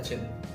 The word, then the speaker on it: Qin: लेकिन जो चाइना का जो वर्ड मीनिंग हम अगर पढ़ते हैं उससे स्पेलिंग तो QIN होता है, लेकिन उसे हम प्रोनाउंस चिन करते हैं।